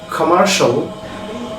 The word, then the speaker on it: commercial: আমরা আজকে থেকে শিয়াল যেখানে আমরা বলতাম, that means if any word ends with CIAL or TIAL we will pronounce shall, shall, like commercial, crucial, আরেকটা very important word social বলি আমরা, social, presidential.